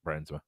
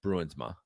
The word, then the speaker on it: Bruinsma: It's Bruinsma. I know, but the rest of his family says Briansma. Oh, really? Or at least his extended. Do I say it wrong? No, but you say it the way he says it.